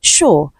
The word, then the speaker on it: sure: So option A we have sure. This is the answer to this question because letter S is the shh sound.